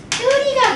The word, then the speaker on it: 닭들이: 닭뜨리가 돼야지. 왜냐면 기억이랑 디귿 만났잖아요. 그드브 스즈 닭뜨리가 됩니다. 왜냐면은 얘는 받침 앞에서 하나 남는 거 맞고요. 기억 디귿 만나서 지금 닭뜨리가 돼요.